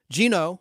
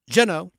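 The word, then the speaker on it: Jeannot: his first name pronounced Gino the T silent jeno sah s z w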